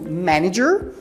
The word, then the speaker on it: manager: seguida nós temos o Manager que é o gerente né presta muita atenção na pronúncia aí de manager tá porque a gente tem esse segundo a ele é pronunciado como se fosse I certo então presta Mita